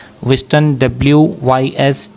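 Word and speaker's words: Wystan: विस्टन डब्ल्यू वाई एस टी ए एन ह्यू एच यू जी एच यू एन ऑडिन।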